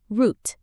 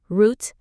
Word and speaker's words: route: Route. Two pronunciations, route, American, or route, British.